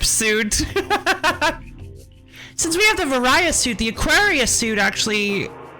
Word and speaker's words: Varia: a fancy word like Varia, you should come up with a fancy word for the gravity suit as well. Pronounced like that because it's supposed to be the barrier suit.